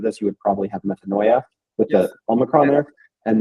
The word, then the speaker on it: metanoia: I suspect that the pronunciation of the second word is metanoia, because it's in Greek it's metanoia, and then that, like in spoken Greek, the oi sound becomes just an e sound, and then you see